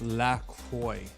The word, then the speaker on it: La Croix: It's pronounced La Croix.